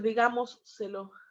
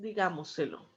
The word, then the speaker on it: digámoselo: Entonces no puedo decir digámoselo porque es incorrecto. Ahí es digámoselo. ¿Ok? Por más que parezca como la pronunciación de la doble S del portugués, no existe la doble S en español.